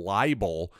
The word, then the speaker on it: Laible: game is that Junior College walk on Dylan libel I believe that's how you pronounce his last name l-a-i-b-l-e well apparently he